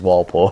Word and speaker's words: Walpole: at one point so it's not our Daddy's wall Poole right we say it like that it's classification you see